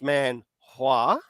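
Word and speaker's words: 만화: Um, where with the Chinese, it's Manhua. Manhua, yeah. Yeah. Now, the Korean one sounds very similar, but it's Manhua.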